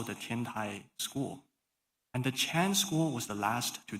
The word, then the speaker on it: Chan: So you might have heard the word Zen from um many publications in English all talk about Zen, but the Chinese pronunciation of Zen is Chan and Changtai Chan monastery belongs to this tradition.